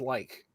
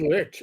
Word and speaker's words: lich: It's an old English word meaning person. And in old English it's pronounced like. Wow. I always said lich.